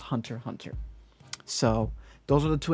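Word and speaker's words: Hunter × Hunter: um my saying of hunter x hunter it's actually hunter hunter i just say x because the x is just there but for my understanding it is pronounced hunter hunter so those are the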